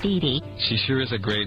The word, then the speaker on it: Didi: something that really bothered her, like other characters mispronouncing her name... Oh, Sally! It's Didi. She sure is a great aunt, huh, Fifi? It's Didi!